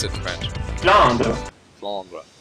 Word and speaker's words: Flandre: And you pronounce it in French, apparently. How do you pronounce it in French? Flandre. Flandre.